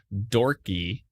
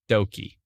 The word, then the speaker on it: Doki: So not only did I say Dorky, but it turns out it's Doki. Oh, I said Dorcas, but it's Doki.